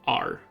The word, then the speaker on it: Ahr: One easy to get to high tier seed vendor is named R. That is spelled AHR, and they're in Calphion.